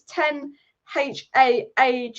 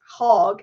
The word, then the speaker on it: Ten Hag: If it was Ten HAAG, it's HAG. If it's HAG, it's HAG.